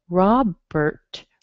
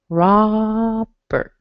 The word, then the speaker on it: Robert: You actually can hear just a little So Robert has a schwa and an R together. Robert.